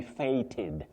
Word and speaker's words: feted: That is to be fated.